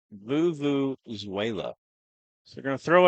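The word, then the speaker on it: vuvuzela: So expect the Hamburg crowd to be loud, and you hear the, how you say it again? Vuvuzuela. Not Venezuela. Vuvuzuela.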